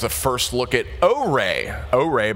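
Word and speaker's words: Ary: first look at arrey arrey by the way is how it's pronounced if you were wondering uh really just magnificent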